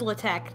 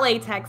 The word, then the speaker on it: LaTeX: yes it is pronounced Allah Tech not okay cuz everyone I knew said latex it's not latex it is the Greek letter Chi and it is pronounced